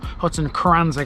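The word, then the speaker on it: Hutton Cranswick: that was it was in hutton kranzwick or hutton kranzik i think it might be pronounced by the locals up in the east riding well done if you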